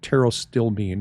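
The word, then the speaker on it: pterostilbene: things are Resveratrol and Tero still bean and that's Tero still Bean that starts with a P but the p is silent so Peto still Bean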